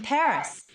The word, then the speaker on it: Paris: 16% of the people of France live in Paris. Wow. So, this is Paris. I can't believe that I've never visited the capital of France before. Yeah. Well, the locals pronounce it Pari.